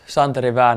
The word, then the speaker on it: Santeri Väänänen: you pronounce your name yeah it's uh it's pronounced chantre Evan and then yeah so now you guys are